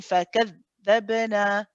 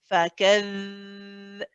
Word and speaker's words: فكذبنا: Yeah, can you hear that you say فكذ, and then it sort of stops. فكذ. So if you're saying that, if you're pronouncing it right, you should be able to keep it running for as long as your breath.